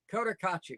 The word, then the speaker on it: Cotacachi: Cotacachi.